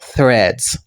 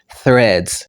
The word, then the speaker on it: Threads: Donc là, moi mettez phonétique là normalement. Ça veut dire c'est comme ça qu'il prononce. Les qui va prononcer ou mettez langue entre les dents. Donc les qui va bailler c'est comme si vous faites son sous langue.